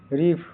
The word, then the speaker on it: reef: REEF का उच्चारण pronunciation रिफ। यहाँ डबल ई का उच्चारण लंबी ई की तरह होता है, अंत का यफ। REF का हिंदी अर्थ मीनिंग